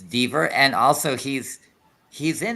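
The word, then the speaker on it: Dever: go ahead okay the the pronounce is dver okay it's dver and also he's he's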